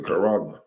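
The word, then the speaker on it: χάραγμα: You know, the people who ever take the mark of the beast, the charagma. That's how you say it, you know, in the Greek.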